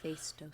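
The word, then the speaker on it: Phaistos: I kept wanting to call it the fastest disc, but Fto.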